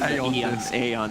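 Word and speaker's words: Aeon: forces of classic yeah eon 730 e on this removed from the game eon disc pronounced a on this go okay smoke around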